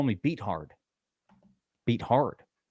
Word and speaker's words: Beathard: You know how many times people keep writing in on the comments that Beat Hard is actually pronounced Beathard?